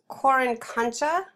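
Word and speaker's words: Qorikancha: And it also includes, it's called or it's pronounced Coricancha. That's what the Q is, Coricancha, which is the Incan main temple.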